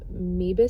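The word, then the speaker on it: Moebius: a clinical diagnosis of meebus syndrome it's spelled m-o-e-b-i-u-s syndrome which is actually not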